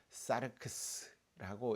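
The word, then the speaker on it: σάρξ: 그대로 육신이라는 말을 읽어 보면 사르크스라고 읽을 수 있습니다.이 이 사르크스라는 말은 우아한 인간의 몸을 뜻하는 단어가 아닙니다.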